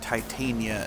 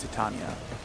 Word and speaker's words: Titania: I'm pretty sure they pronounce the Warframe Titania instead of Titania.